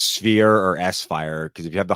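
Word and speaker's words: S-Phyre: think also like sunglasses always called it sire same same but he was saying that he's pretty sure the intended pronunciation is sphere which I said why yeah but why is there a Hy in there then yeah that throws it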